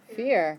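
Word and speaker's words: vier: what about three dry dry good is so pronounced just like the word dry what about four fear good every try that one fear fear you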